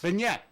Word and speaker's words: beignet: thing but I don't even know how to pronounce it the beignet beignet there you go boy boy Joe you're pretty